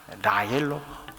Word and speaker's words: 라헬: 레이첼.이 이 레이첼이 라헬입니다. 라헬로 히브리어로 그렇게 이제 발음이 되는 걸 음절 표로 그렇게 지격을 해 버린 것이죠.